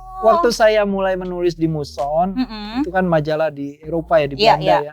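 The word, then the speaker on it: Moesson: Nah ini yang susah nih, bernama Moson Het Indisch Manblad. Ya. Betul, cara bacanya gitu.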